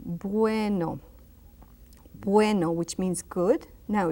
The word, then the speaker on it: bueno: A very soft B, bueno.